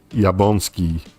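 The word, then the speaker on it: Jablonski: If I remember correct, you don't pronounce the L. And it's more like Jabonski.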